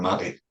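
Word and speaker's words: Maté: So the Matty is spelled like meat. There's an accent above the E. So it's Gabbor Matty.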